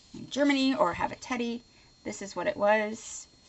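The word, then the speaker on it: Tedi: local store here called Teddy, and T-E-D-I. That's how I've always pronounced it. Teddy. The Germans might pronounce it some other way, but I would just call it Teddy.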